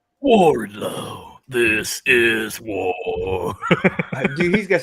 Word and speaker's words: Wardlow: lethal yeah good lord you have to say it right warlow warlow this is dude he's